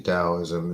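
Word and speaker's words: Daoism: It's actually Dowoism is pronounced with a D. It's a D.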